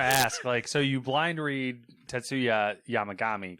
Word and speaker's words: Tetsuya Yamagami: The suspect of the shooting, Tetsuya Yamagami, which, how I blind read that correctly. Yeah, I was going to ask, so you blind read Tetsuya Yamagami correctly, but then we're like, Shinzo Abe.